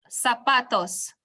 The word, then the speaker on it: zapatos: gonna stress is which is what pronounce the syllable says Zapatos okay muy bien Professor broth is Bueno